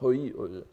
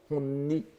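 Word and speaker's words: 本意: Il faut bien savoir que l'intention profonde, hoi, on prononce hoi, hon-i, n'est-ce pas? Parfois aussi on peut prononcer hon-ni, mais dans les textes médiévaux, plus souvent c'est hoi, et vous savez que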